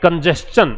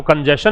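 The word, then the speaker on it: congestion: पे traffic bottlenecks, traffic कंजेस्शन, इसको कंजेशन नहीं बोलते मेरे भाई, कंजेस्शन बोलते हैं।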